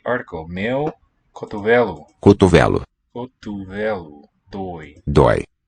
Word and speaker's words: dói: Dói. Dói. Open O.